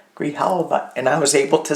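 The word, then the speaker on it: Grijalva: Grihalva. Grihalva. Grihalva.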